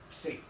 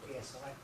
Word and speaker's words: psi: phenomena are referred to by the Greek letter C and that's how it's pronounced not PSI anything that cannot be understood within the confines